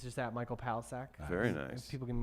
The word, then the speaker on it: Palachuk: Again, Michael Palachuk. What do we need to check out? It's Palisac if you want to say I've it.